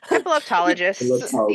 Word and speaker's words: epileptologist: Epileptologist.